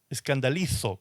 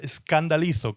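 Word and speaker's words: σκανδαλίζω: En el original, escrito en griego, se escribe el griego castellanizado, se pronuncia escandalizo con Z al final, escandalizo con K al principio, escandalizo, que de allí viene y proviene la palabra escandalizarse, ¿sí?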